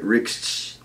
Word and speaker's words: Rixh: Yeah, I say Rixh with an X. You know what I'm saying? He said Rixh. But it got an H on the back, so say it right. Rixh.